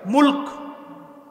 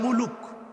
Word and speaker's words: মুলক: মুলক মনে থাকবে না? আর যদি আপনারা ওইভাবে বলেন বাংলা ভাষায় মুলুক বলে না, রাগ করতেছেন? মুলুক, মুলুক। আর সঠিক উচ্চারণ করতে হলে কিভাবে? মুলক।